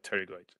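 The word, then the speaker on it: pterygoid: teroid the teroid is the p is usually silent so it's pronounced teroid like teroid all right so the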